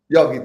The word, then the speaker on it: Yogitha: say your name exactly it's yog you got it right yogita I just need the accent on the Y and Tim sander did